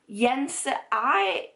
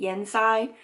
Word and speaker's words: Yenisei: And they were, Lee was Yenisei, I think. that's how he pronounced that river, and I've been pronouncing it Yensai this whole time, so I got that wrong.